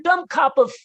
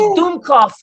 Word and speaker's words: Dummkopf: What a dumb cop of." Yeah, though it's pronounced Dummkopf.